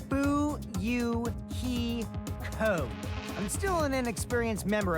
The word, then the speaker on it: Fuyuhiko: My first name is pronounced Bu-Yu-Hi-Ko.